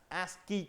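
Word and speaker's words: ASCII: So, next one ASI code. Okay. As you already aware about that, this is one of the coding American standard code for information interchange. It is pronounced as ASI code.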